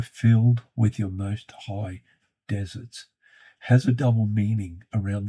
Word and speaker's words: deserts: Star Trek and others, pronounce the word desert as deserts. Patrick, if you happen to be watching, it is most certainly deserts, not a fruit-based treat after the main meal, as that was the most common desert.